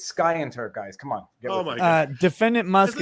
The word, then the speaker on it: scienter: scienter according to joe i say sienter since that's how i learned it the accent is on the uh it's a hard see it's sky inter guys come on defendant